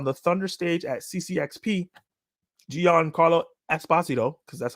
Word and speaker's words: Giancarlo Esposito: During a panel on the Thunder stage at CCXP, Giancarlo Esposito, because that's how you say his name properly,